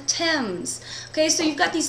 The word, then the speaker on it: Thames: Well, most of us would say th, but we have these rules about when it doesn't say th. For example, if you've ever cooked with the spice thyme, or you've ever been to London and sailed down the Thames.